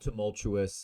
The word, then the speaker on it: tumultuous: Not tumultuous. I know the letters are the same basically as Portuguese. The pronunciation is quite different. Tumultuous, tumultuous, tumultuous, tumultuoso. I think.